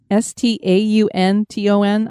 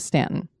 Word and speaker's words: Staunton: chosen and this is spelled s-t-a-u-n-t-o-n I hope we're saying that right I listened to different videos some said Staunton some said Stanton we're going to go with Stanton this town had been